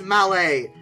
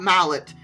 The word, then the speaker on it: Mallet: it it's it's it's it's Malay not Mallet and the big boy